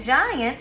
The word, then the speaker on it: giant: Goliath and giant both start with the letter G, but they have different sounds. Goliath starts with a hard G. It says G, G, G. And giant starts with a soft G sound. It says J, J, J.